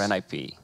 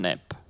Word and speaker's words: NiP: I read about it's it's not too pronounced nip it's pronounced ni p I think the calendar